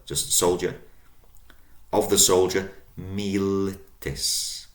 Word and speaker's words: militis: So from ES in the nominative and the vocative singular, just soldier, of the soldier, militis. Militis. So long first syllable, mi, short, li, short, tis. Militis, of the soldier.